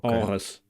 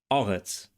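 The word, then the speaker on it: ארץ: And the final consonant tsadi is pronounced in Biblical Hebrew like an emphatic s, meaning that it's pharyngealized.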